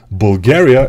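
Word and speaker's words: България: Bulgaria, in my language, we pronounce Bulgaria. Bulgaria.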